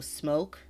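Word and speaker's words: Smoak: is that it yeah Felicity smoke but it's spelled s m o a k so smoke like SM Oak um um which was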